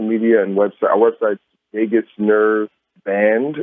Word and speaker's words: Vagus: Our website's Vegas Nerve Band, and that's Vegas. The way it's spelled is VAGUS Nerve NERVE.